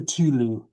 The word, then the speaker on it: Cthulhu: The um the the Metallica version called Culu. Well, every time they asked Lovecraft how to pronounce it, he told them something different. He never told them the same way twice because it wasn't supposed to be pronouncable.